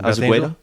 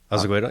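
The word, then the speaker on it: Osegueda: Is that how you pronounce that? Azeguedo? Azeguedo? Yeah.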